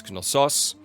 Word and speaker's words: Knossos: In Greek, it is Knossos. So the emphasis on the second O, odds are I'm not going to remember that one.